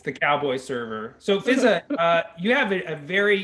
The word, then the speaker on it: Fiza: There's two a's, but it's not pronounced fizzah. It's just pronounced fizza. One of the a's is silent.